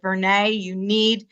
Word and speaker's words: Vernee: And they said, Vernee, they said Bernie, because they still didn't know how to say my name at that time.